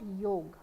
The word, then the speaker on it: योग: we talk about योग योगगा नहीं होता योग होता है मोस्टली लोग योगा योगा करते हैं वो योग है इंग्लिश में तो राम को भी रामा लिख देते हैं तो आप रामा थोड़ी ना बोलोगे आप इसे योग बोलोगे बट आदत वाली बात